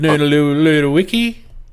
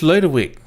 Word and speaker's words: Ludwick: Not Lud Lud Wiki. I just call him Noodle Loo and then everybody be happy. God, can't you say it right? It's Ludwick. God ma daki.